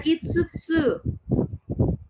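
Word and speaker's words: 五つ: Nah, yang kelima di sini ada itsutsu ya, bisa juga dibaca go ya.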